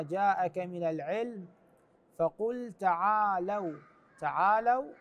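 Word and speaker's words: تَعَالَوْا: من العلم فقل تعالوا تعالوا هنان بلام مفتوحه وليس مضموم مضموم مضموم بعض الناس يقراها فقل تعالوا صحيح تعالوا ندعو ابنائنا ايضا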